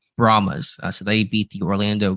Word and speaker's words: Brahmas: say promise promise yeah I always want to say brahamas and put an extra a in there but I guess it's just brahmas so they beat the